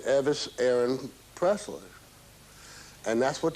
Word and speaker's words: Elvis: elvis was born and vernon for some reason always pronounced elvis name everest and left the l out more or less which is kind of